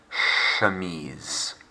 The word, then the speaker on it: chemise: as opposed to the c in the h is soft it's not a cha like in english chemise chemise over to you